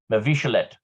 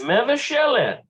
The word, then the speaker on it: מבשלת: Oh, no. Mavishalet. Not that. Gotta be something else. מבשלת. Mevashelet. מבשלת. Okay, mevashelet.